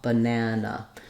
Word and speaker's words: banana: so an American English this is how we pronounce banana and the middle syllable is longer and it has the clear vowel the first and last syllables are shorter in duration and they have reduced vowels that sound like a